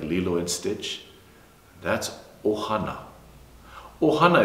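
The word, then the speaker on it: ʻOhana: and Stitch that's Ohana Ohana is spelled with that okina backward apostrophe glotto Mark in the front of the word Ohana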